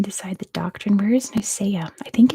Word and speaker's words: Nicaea: And it was Nicaea, or Nicaea, is that how you pronounce it?